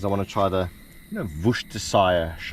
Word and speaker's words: Worcestershire: We got some decent porterhouse steaks, a few of them, because I want to try the, Worcestershire, how do you say that shit again? Worcestershire.